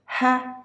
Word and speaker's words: heifer: Heffa, two syllables. Heffa. So the first syllable is given more volume. So heffa, heffa.